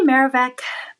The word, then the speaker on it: Merovech: I say Merovech, but again, we can be very fluid with the pronunciation.